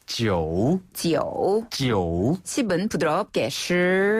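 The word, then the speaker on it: 十: 10은 시, 시, 시. 시. 네, 그렇죠. 부드럽게 올라가면 됩니다. 시을이 약간 생소한 발음입니다.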